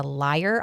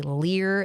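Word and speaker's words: lyre: And so they used instruments like the I think it's called a liar. I always want to say lear. That's spelled L Y R E.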